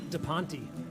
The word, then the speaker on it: DePonte: Today's producer is Graham DePonte. 3 syllables, by the way.